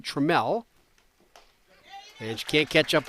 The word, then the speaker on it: Trammell: Her last name is spelled just like Alan Trammell, the great Tiger shortstop of the 1980s, but she pronounced it Trammell.